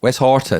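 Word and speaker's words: Westhoughton: West Horton. West Horton. I would have said Houghton. There's no or in there.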